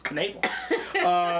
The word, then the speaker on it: Knable: It's just got a silent K in there. It does. It's Knable. Salesperson Roy Nabel, played by